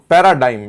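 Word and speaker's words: paradigm: बड़ा अच्छा वर्ड है पैराडाइम डिग नहीं है जी साइलेंट है इसमें पैराडाइम है यह पैराडाइम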